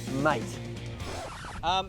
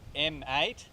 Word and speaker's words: M8: The all-new BMW M8. Finn, it's pronounced M8.